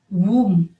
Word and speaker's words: womb: The silent letter B. Womb, womb, W-O-M-B, womb.